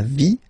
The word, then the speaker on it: vie: And then, when they're ending with ie, like here, okay, so basically you don't pronounce the e, okay, so it will be only the sound i, okay, for instance, la vie, life, okay, la partie,